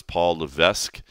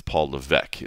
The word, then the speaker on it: Levesque: If you look at the way it's spelled, I always thought it was Paul Levesque, but it's Paul Levec is the S is silent.